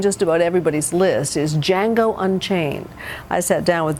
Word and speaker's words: Django: What's your name? Django. The D is silent.